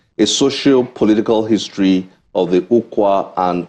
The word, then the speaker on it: Ukwa: The book we have here is A Tale of Two Neighbours, a socio-political history of the Ukwa and Ngwa nations. Did I pronounce those well?